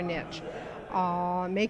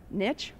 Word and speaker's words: niche: Well, I guess the big question is do you pronounce it niche or niche? That is not just a question here, but everywhere. I always tell people that, if I'm east of the Rockies, it's niche because they'll think I didn't go to college.